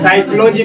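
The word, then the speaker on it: psychology: तो पसलाउजी जानता है क्या है, साइकोलॉजी पी साइलेंट है, इसीलिए उसका प्रोनाउंसिएशन क्या कर लिया है।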